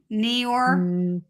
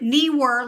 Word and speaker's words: Neewer: Is it Neewer like kneecaps, Neewer, or is it newer, opposite of older? I just think if it is newer, then I don't believe in putting a silent E in your brand name. I think that's Unless- a terrible choice. Newer was someone's actual last name, and that's how they pronounce it, though.